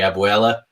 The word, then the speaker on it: abuela: You would say abuela, your grandmother.